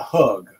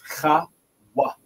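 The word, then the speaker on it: חוג: that the word chawag, because it's not hug, it's not hug, it's not hoog, it's chawag, chawag.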